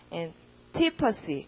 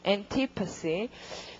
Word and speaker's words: antipathy: 그리고 강세는 P 스펠링 앞 여기에 강세가 들어가니까 발음 어떻게 할 것이다. antipathy 이렇게 올리면 되죠. antipathy.